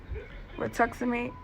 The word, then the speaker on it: Rituximab: Rituximab, that's how they or Rituxan, that's how they pronounce it.